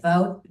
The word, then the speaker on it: Vought: And got Russell Vought, and I pronounce it Vought because that's the way that the Boys TV show pronounces the name, and that's the evil corporation that controls everything.